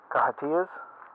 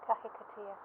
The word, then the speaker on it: kahikatea: These are more kahatias? Yeah, kahikatea. Kahikatea, sorry. Not the best pronouncer in all the world.